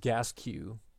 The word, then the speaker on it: Gasque: And Jarrett just reiterating that his name is pronounced Gasque.